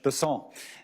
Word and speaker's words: Bessent: Cassidy um Mr bant I'm always going to pronounce your name as if it was in south Louisiana and I'm gonna pronounce it with a French Besson as opposed to bessent that's what those folks in South Carolina do um I'll try let